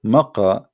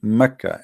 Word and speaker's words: Makkah: Sorry, for the people of Quraysh, they pronounce the letter Qa as Ka in such places, like in this case here, Mecca. So all what they do, they switch the letter. So Makkah became Mecca.